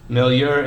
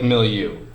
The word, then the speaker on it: milieu: Milieu, it looks like milieu. But that's actually pronounced milieu.